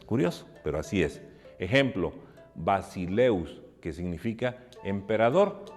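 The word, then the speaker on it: βασιλεύς: el artículo masculino singular si el acento va sobre un diptongo se escribe sobre la segunda y se pronuncia en la primera es curioso pero así es ejemplo basileus que significa emperador y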